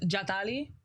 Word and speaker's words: Jatali: you say that so my pronunciation of my first name is jali okay jali she says it with the th I can throw the